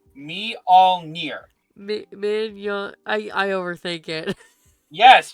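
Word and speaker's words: Mjölnir: It's Molir. Stormmer. The J's are pronounced like I. So it's meol me. Don't look at the card. Just say me all me.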